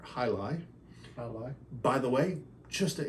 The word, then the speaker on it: Jai Alai: check this out and he pronounced it J Ali and I said it's actually named after sport hii hi by the way just